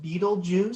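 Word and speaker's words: Betelgeuse: I've always heard it pronounced Beetlejuice, so I always kind of warn people, just be sure you don't say it 3 times.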